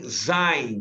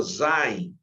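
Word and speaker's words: זין: Sim, Zain, né? Lembrou? Zain.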